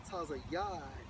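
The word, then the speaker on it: ציד: for um Hunter the's H 6718 pronounced as Taz Yad and it goes into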